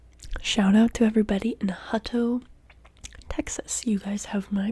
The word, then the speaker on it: Hutto: oh I don't know how to say this Hutto Hutto Texas one moment while I Google this